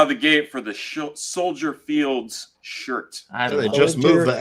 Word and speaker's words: Soldier Field: yeah it is soier you don't pronounce the S it's like Illinois yeah sty stupid the meatball fans always said Soldiers Field let's put the little